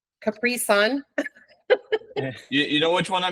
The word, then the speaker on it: Capri Sun: here's the last one my wife always jokes with me I always say it wrong capricon Capri Sun you know which one